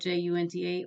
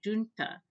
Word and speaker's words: junta: pronounced the spanish spelled ju nta or in english it can be pronounced junta and for a long time the 18th century borrowing from spanish was pronounced junta by english speakers but now is more